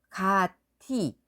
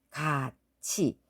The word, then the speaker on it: 같이: 발음하는게 훨씬 쉬운 거예요 실제로 우리가 발음을 해보면 구디 하고 소리를내는 것보다 굳이 하고 소리를내는게 훨씬 편안하거든요 한번 해보세요 가티 가치 다 튀다 닫히다 국외음화가 일어난 현상이 훨씬 더 편안해요 현재 남조선의 경우에는 국의